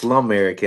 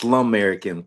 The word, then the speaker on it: Slumerican: It's It's It's pronounced Slumerican and I had to say that Slumerican.